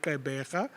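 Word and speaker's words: Gqeberha: They call it Kaibega. So please, I don't expect you to pronounce it like that.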